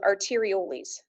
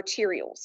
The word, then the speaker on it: arterioles: out, and they go into smaller vessels called arterioles or arterioles. I've heard it pronounced both ways.